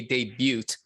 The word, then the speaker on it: debut: um album and I'm I'm pronouncing the T when I say debut because I think that's the way they do it in Korea like having been born